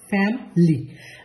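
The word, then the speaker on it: family: নাকি ফ্যামিলি এটার উচ্চারণটা কি এটার উচ্চারণটা সঠিক উচ্চারণ হচ্ছে ফ্যামিলি নেটিভরা যে জিনিসটা করে ওরা এই ভিতরের যে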